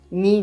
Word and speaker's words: не: Remember that the particle не, not, is almost never stressed in Russian. So you would usually read it as just an extra syllable, ни.